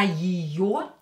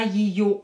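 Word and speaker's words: её: Я ее, е, not stressed, pronounce it as и.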